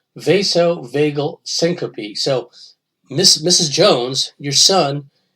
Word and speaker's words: vasovagal syncope: He suffered from," okay, it's pronounced vasovagal syncope.